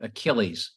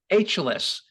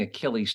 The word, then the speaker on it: Achilles: it was all spelled he said ageless um and they and then you heard the beat the buzzer well I'm sorry we can't accept that because you have to pronounce it correctly so because this guy